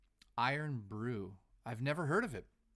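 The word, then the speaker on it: Irn-Bru: mood guys I apologize pronounced iron iron Brew I've never heard of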